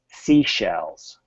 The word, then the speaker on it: seashells: So this first part of the word here is actually pronounced just like the letter C. C. What happens is this causes you some grief, and then you forget the SH here. So it's seashells.